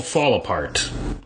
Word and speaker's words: Fallapart: It's called Fallapart, and that's how I pronounce it. I don't, in my mind, the cadence isn't fall apart, it's fall apart, like it's one word.